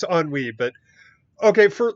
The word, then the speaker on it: ennui: I mean, um, but yes, I know it's ennui, but okay, for like 30 years, I've pronounced it as Inuai and thought that ennui was a completely different word.